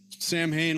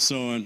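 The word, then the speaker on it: Samhain: All right, so Sam Hayne looks like, but yes, blame the Irish. They pronounce it sewing.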